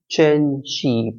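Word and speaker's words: Cenci: of Islam then the cheni c e n c i remember the pronunciation of this word is cheni probably a kind of Italian word why because it's all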